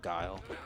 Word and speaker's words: Guile: the same kids that would say like Gully instead of guile I don't know if